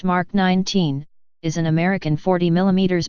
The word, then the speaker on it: Mk 19: the MK 19 grenade launcher pronounced mark 19 is an American 40